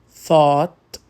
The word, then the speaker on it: thought: Segunda, a gangue do Ou Ght. Bought, thought, brought. Aqui o GH é mudo e o som é de um O longo e profundo.